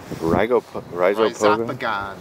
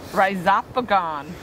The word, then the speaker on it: Rhizopogon: Rhizopogon. Rhizopogon.